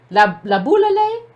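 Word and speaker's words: Laboulaye: La boule. Okay, but it's a shay. It's just pronounced la boule though.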